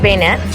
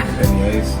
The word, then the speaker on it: beignet: Did you get bayonets? Am I still saying it wrong? Beignets. Beignet. Yes.